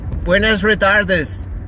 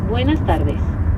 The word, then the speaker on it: buenas tardes: Buenas retardes. Almost. It's buenas tardes.